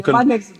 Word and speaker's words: Manne: Yeah, you man next to you can pronounce it the way you want it. The man, like Manne. like like the other guy.